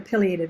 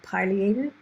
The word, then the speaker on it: pileated: And this is our largest woodpecker, the pileated woodpecker. And some folks will very rightly pronounce that pileated, but you hear both, and I tend to go pileated and shorten that to pili.